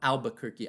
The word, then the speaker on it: Albuquerque: 1860s, around the 1860s, that we lose our R in Albuquerque. It used to be Albuquerque, Alburquerque. And we still say it like that in Spanish. My parents, I always remember hearing them talk. They would say Alburquerque, but then later on, during the American territorial period, we become Albuquerque.